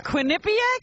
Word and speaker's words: Quinnipiac: some college show in Quinnipiac Quinnipiac Quinnipiac that's how you say it it's Quinnipiac yeah quinc that's right am